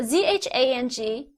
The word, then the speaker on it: Zhang: So ZHANG together is pronounced as zhang. So you call someone Mr. Zhang, and you should not call someone Mr. Zhang. See? That's what I mean by you cannot pronounce Pinyin as if they were English.